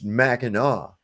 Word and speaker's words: Mackinac: about I said well if Mackinac is pronounced Mackinaw then why isn't Pontiac pronounced pontia yeah knick-knack knock knock